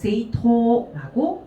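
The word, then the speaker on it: 政党: 그 정당이라고 할 땐 그래서 세이토라고 읽어주시면 되겠습니다.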